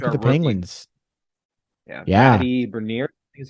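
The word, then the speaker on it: Beniers: Matty Bernier is how you say it.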